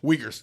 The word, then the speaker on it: Uyghur: who are known as Uyghurs. I could be pronouncing that wrong. Is it? Do y'all know Uyghurs? Uyghurs. That's what it is.